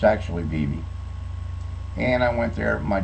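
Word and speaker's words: Vevay: then we moved to a little town called Viv v v a y why uh those that are not from around there pronounce it VI uh but it's actually bie and I went there my Junior and Senior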